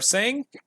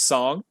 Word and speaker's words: Tseng: they are met by another Turk song or sing I think his name's song I think it's pronounced song I'm pretty sure I think it's